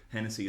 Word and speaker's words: Hennessy: Hennessy is spelled like the state Tennessee, but with a H at the start instead.